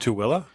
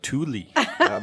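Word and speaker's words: Tooele: whole another town in between them called It's pronounced TOA I thought it was Tuli depends on where you're from if we're going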